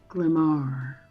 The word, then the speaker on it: Lamar: the glamery lamar ruth lamar yes the accent is on the second syllable yes but i had mayor and it's mar you put the you put the accent on the wrong syllable glamorous all right um